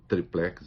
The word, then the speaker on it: tríplex: o apartamento tal do Tríplex do Guarujá, eu prefiro triplex, as duas pronúncias são aceitas, ele não via ligação entre o triplex e os contratos da OAS com a Petrobras.